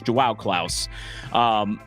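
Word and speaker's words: João Klaus: With Joao Klaus out, I got knocked on for my pronunciation of that. It's Joao Klaus.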